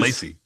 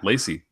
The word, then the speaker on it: Leacy: how do you say your surname it is Lacy yeah Lacy and of course I have a Go Lacy